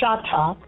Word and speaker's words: Chahta: We spell it Chahta because the H make the ha sound. Is a sound, not a pronunciation. So it's Shatta.